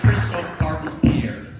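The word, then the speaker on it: Christophe Pierre: Archbishop Kristoff Pierre C so it's cryistal paron Pierre if you want to say it correctly uh so your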